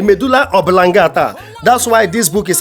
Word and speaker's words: medulla oblongata: is making me and I definitely wants to pronounce medulla obilangata and he said medulla oblongata that's why this book is available eat with